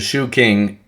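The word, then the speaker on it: Shu Jing: The shoe king. Um it's not that's not English shoe king. That's that's how this is pronounced.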